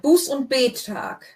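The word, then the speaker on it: Buß- und Bettag: Buß und Betag. Betag. So the Betag, the gap goes between the 2 T's. It's not a bet.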